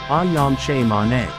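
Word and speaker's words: Ayam Cemani: chickens did you know that I am is pronounced as aam CH man the word CH man in am stands for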